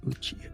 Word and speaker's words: Uchiha: How do you pronounce his name again? Uchiha.